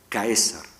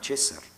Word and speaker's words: Caesar: Los romanos de época clásica debieron pronunciar Caesar. En época tardía, el diptongo había monotongado, la C se había palatalizado y pronunciaban César.